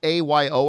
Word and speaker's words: Ayo: And by the way, it's spelled A-Y-O. I've always known that, but I don't know how it's pronounced, so I just say Ayo.